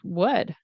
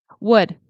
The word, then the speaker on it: would: With would, it there's no L, okay? Doot, doot. It's pronounced like would, okay? Boop, boop. Would, and it rhymes with should and could, okay?